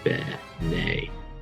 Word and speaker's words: bene: Quis Deus tibi non bene advocatus. Whoops, there it is. And again, we have another problem, but not really. Yet again, we have a space for an elision. So ben advocatus, no problem.